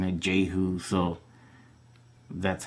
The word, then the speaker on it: Jehu: Oh, my first name, no, it's Jehu. I mean, that's how I pronounce it.